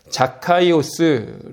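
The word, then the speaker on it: Ζακχαῖος: 4 깨워 라고 부르지만 원래의 단어 발음 대로 하면 자카 이오스 라는 이름입니다 그걸 우리가 4 깨워 라고 부르는 것이죠 2부 뜻이냐 하면 착하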